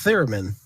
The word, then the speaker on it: theremin: I hope she didn't have to Google that because I'm never going to be able to pronounce what that is anyhow. It's theremin.